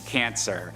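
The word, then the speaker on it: Kancer: the disturbingly gross monstrosity known as cancer but you know spelled with a K because Kryptonite Cancer's origin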